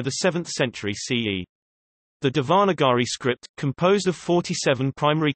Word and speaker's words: Devanagari: Devanagari, Devanagari, Devanagari IAST, Devanagari, Sanskrit pronunciation, Dnai, also called Nagari, Nagari, Nagari is